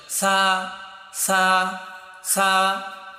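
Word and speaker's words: ث: সময় তোমার জিহ্বার আগা, সামনের উপরের দুইটা দাঁত যে রয়েছে সামনের, এই দুই দাঁতের আগার সাথে গিয়ে এটা উচ্চারণ হবে সা সা সা।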